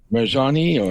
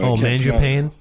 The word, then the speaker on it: Mangiapane: I can't pronounce his name. He's known as the bread man. He's number 88. Marjani? Mangiapane?